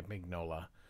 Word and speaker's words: Mignola: So I know that he pronounces it Mignola, but I just say Mignola because that's how it's spelled.